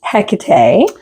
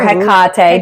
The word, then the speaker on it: Hecate: Her name is Hecate or Hecate, depending on how you pronounce her name.